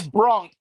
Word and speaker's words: Brunk: and the passing of Terry uh Bronc. Am I saying his last name correctly? Terrence Brunk. Yes.